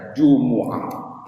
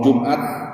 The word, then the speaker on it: Jumu'ah: Kalau paling tidak dalam Al-Qur'an kita baca Jumu'ah. Selainnya mau Jumat, apalagi itu konteksnya Indonesia boleh. Bahkan dalam konteks fikih pun ada juga yang kemudian membacanya Jumat.